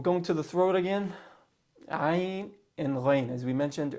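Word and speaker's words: عين: It's in the middle of your throat.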